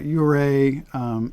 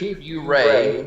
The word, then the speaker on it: Ouray: The whole Telluride, Ouray area is just stunning.